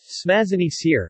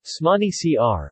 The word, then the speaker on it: Smažený sýr: Smažený Sir, Czech pronunciation, Smažený Sir, or Vyprazany Syr, Slovak pronunciation, Ipra Ani Sir,